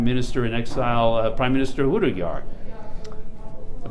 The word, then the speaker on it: Hudayar: And I'm here today with East Turkistan Prime Minister in Exile, Prime Minister Hudayar. Pronounce that right?